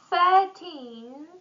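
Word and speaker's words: thirteen: 13, stress on the end, or 30, and here we have stress on the beginning, on the first syllable.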